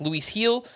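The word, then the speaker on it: Luis Gil: Yankees uh one of Luke Weaver Clayton beeter Luis heel that's uh Luis g l but it's pronounced Luis heel or will Warren so there are some prospects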